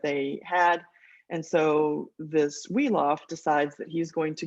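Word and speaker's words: Wiglaf: the side this this Warrior woff that's how you pronounce that weof decides that that he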